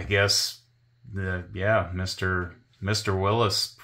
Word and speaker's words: Willys: that it was pronounced Willis like Bruce Willis is their exact words were like it's supposed to be pronounced like Bruce Willis's name not Willies and so I consulted